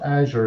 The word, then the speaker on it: Azure: Azure and some people the way you pronounce it Paul there is azure the Amer the American it's we we asked a few kind of experts in Microsoft and they call it Azure so Azure yeah so